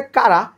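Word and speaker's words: Chara: ওর উচ্চারণ আসলে কারা।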